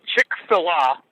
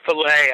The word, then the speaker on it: Chick-fil-A: give a crap well chick fila or filet I suppose as it's supposed to be pronounced um it's kind of